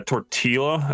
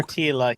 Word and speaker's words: tortilla: Tortilla. He said he said tortilla. Tortilla. Why are you saying L?